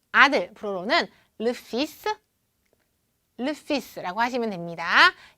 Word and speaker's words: le fils: 자, 아들, 불어로는 le fils, le fils,라고 하시면 됩니다. 여기 L은 발음 나지 않고 S 발음이 나고요.